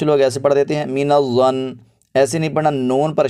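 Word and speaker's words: مِنَ الظَّنِّ: اس لفظ کو دیکھیے، میم زیر می، نون زبر ظنظ، مینظ، ظا زبر نون ظن، مین الظن۔ اب اس کو کچھ لوگ ایسے پڑھ دیتے ہیں مین الظن، ایسے نہیں پڑھنا، نون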